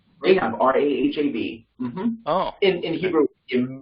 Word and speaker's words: Rahab: see what we'll go um question could you pronounce that clear joel was that rahab you said they have r-a-h-a-b oh in hebrew in b but yeah all